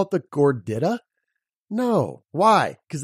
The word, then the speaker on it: gordita: they call it the gordita no why because they intuitively know that I makes the e sound gordita and what are you